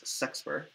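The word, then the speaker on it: sexpr: Sometimes people pronounce that as sexper, and returns an E.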